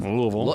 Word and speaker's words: Louisville: Um, you have to say it like you have marbles in your mouth. Louisville.